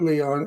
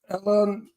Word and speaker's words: Elon: I mean, not Leon. What did I just say his name? Elon.